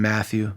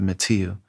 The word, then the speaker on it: Mathieu: Some people call him Matthew. When he introduced himself to me, he said Mathieu. And so I try to pronounce it that way.